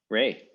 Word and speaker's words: Ra: because the word was Ray. Ra is the Egyptological pronunciation, right? We generally pronounce the ein as like a ah vowel.